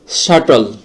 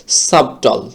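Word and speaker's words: subtle: এখানে পির উচ্চারণটা হবে না। পরবর্তী শব্দটি হচ্ছে সাটল। অর্থাৎ সূক্ষ। তো এখানে আমরা দেখতেছি সাটলের মধ্যে কিন্তু এখানে এই বির উচ্চারণটি হয়নি। এই স্বাভাবিকভাবে উচ্চারণ করলে এটা হচ্ছে যে সাবটল এরকম একটা উচ্চারণ হয়।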